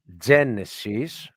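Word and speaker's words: Γένεσις: And again, the word Genesis is not being pronounced Genesis, it is pronounced Genesis. And in Greek, it's because the emphasis is on the E, on the E.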